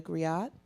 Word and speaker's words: griot: So along with saying warrior, we say warrior griot. Did I pronounce that correctly?